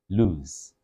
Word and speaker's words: loose: The other one with the extra O is also having the U sound, but then with an S. So lose, lose, lose, lose.